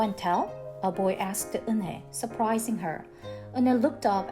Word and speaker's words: Unhei: It's pronounced Eunhae. "Oh, it's Yuhei," the boy said.